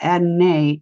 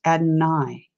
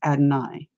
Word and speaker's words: Adonai: He corrected me because I was pronouncing it wrong. It's not Adonai, it is Adonai. For anybody that's been pronouncing it wrong, just an FYI, it is Adonai.